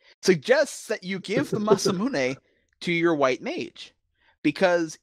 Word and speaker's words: Masamune: did something stupid I got the mamun or masamune or whatever you want to how is how is that pronounced for you masam mamun okay I've heard so many different ways masamune masamune is the actual correct pronunciation of a Japanese name that's the that's